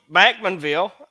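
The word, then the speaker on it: Bachmanville: videos worth of bloopers uh so backmanville uh apparently that's how the locals say it so we probably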